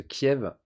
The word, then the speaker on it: Kiev: parce que Kiev, avec un E, c'est la prononciation russe, et du coup, il y en a plein qui trouvent ça de mauvais goût de garder cette appellation-là, et de le faire à l'ukrainienne, finalement.